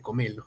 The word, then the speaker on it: cómelo: Argentina no se dice cómelo se dice comelo No pero bueno eh acá dónde radica la mayor fuerza voz Es comelo comelo o cómelo acá en Perú por lo menos es cómelo no la